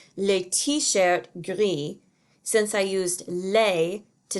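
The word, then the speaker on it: gris: pronounced the same way the masculine form is pronounced gri with a silent s and the feminine form is pronounced griez with a pronounced s and the plural is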